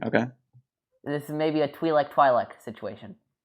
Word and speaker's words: Twi'lek: This is maybe a Twi'lek situation. It's Twi'lek. It's Twi'lek, but some people pronounce it Twi'lek.